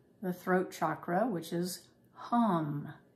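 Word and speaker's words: HAM: throat chakra which is hum h-a-m pronounced h-u-m taking a deep nostril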